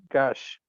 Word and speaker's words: gauche: disparaged as showy or gauche. Gauche. Gauche. That is actually a French word that's taken into English, and it's pronounced exactly like French, gauche.